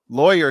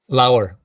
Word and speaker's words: Lauer: tonight it is a privilege to have lawyer here actually I want to make sure I'm pronouncing your last name right is that right lower low ran low so it is a privilege